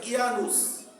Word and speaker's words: Janus: Roman পুরাণে, রোমানদের সেই পুরাতন বইপত্রে তারা একজন দেবতার পূজা করে, যার নাম হলো জানুস, JANUS, জানুস। রোমান ভাষায় এটা তারা উচ্চারণ করে ইয়ানুস। এটা ইংরেজিতে যখন উচ্চারণ হয় তখন জানুস।